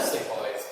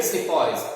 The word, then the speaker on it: sepoy: Now sepoys is a name or an anglicized version of सिपाही. हिंदी में बोलते हैं सिपाही. ठीक है, English tone instead of सिपाही they used to pronounce it as sepoy.